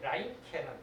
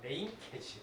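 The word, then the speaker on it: Reincke: 어디에서 나오냐면은 밀즈라는 도시와 이게 라인케는 독일이거든. 영어식 발음을 하면 레인케지, 그죠? 근데 레인케.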